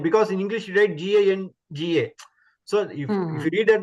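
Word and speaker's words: गङ्गा: Then you have to pronounce from your the base, that is Kantya, and then the sound should come from the nose also.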